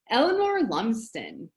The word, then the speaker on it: Eleanor Lumsden: Eleanor Lumsden.